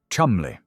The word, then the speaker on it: Cholmondeley: In 2009, at the age of 25, Rose married David George Philip Cholmondeley, the seventh Marquess of Cholmondeley, pronounced Chumley.